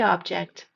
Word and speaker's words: object: Pick up the object on the path. The second pronunciation stresses the second part of the word object.